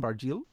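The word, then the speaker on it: Barjeel: baril art found Foundation is that a correct pronunciation baril that's right and he is in a in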